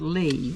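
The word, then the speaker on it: Leigh: And the destination of this place is called Lee, and it's spelled L-E-I-G-H.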